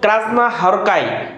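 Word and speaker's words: Krasznahorkai: দেশের হাঙ্গেরির নাগরিক আমাদের এটুকু পড়লেই হবে লাস্ট ক্রাজনা হরকাই ক্রাজনা হরকাইজনা হরকুট ডাবল উচ্চারণ করবেন আগে বলবেন ক্রাজনা পরে হরকাইজনা হরকাই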